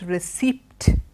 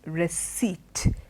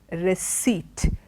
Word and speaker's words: receipt: this word is not received it is receipt receipt ok the silent letter there is what creates a problem with this word so it's not received